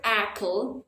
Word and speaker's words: apple: and unstressable look at the word apple and listen to the vowel sounds of the a apple and this word the stress syllable is the first syllable Apple now let's look at